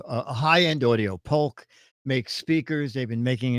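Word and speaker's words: Polk: is um indeed uh the pul I guess is the right way to say that right yes exactly uh and pul has been around if you know the name high-end audio pulk make speakers they've been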